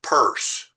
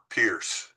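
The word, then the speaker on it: Peirce: All all my history of philosophy professors said CS Purse, not Pierce.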